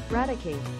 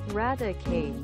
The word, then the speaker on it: Raticate: videos on this uh what about radicate oh this is going to be weird isn't it eradicate oh no never mind radicate yeah that's correct how about you britain